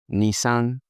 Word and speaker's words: Nissan: So this is what we call Nissan. Nissan GTR, Nissan Altima, so on and so forth. Nissan. But how do Japanese pronounce this? They say Nissan, Nissan, Nissan, not like Nissan.